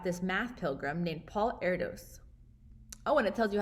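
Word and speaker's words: Erdős: told us about this math pilgrim named paul erdos oh and it tells you how to pronounce it so i've been pronouncing it wrong paul erdish i was intrigued when our younger son benjamin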